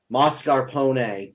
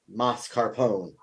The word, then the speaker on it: mascarpone: According to Julian Mikkel on YouTube, pronouncing it correctly is mascarpone. Do not say mascarpone.